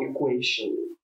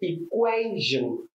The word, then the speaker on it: equation: The word is not equation. It's pronounced equation.